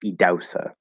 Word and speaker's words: Idahosa: spell it idahosa um or idahosa but it's pronounced idosa that's how how you're supposed to pronounce his